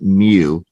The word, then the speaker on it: mu: Mu, like Mewtwo from Pokemon. It's not you, it's mu.